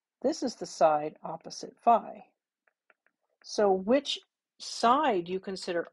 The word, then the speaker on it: phi: greek letter this is phi or sometimes fee sometimes it's pronounced fee it just sort of depends depends on where you're from depends on who taught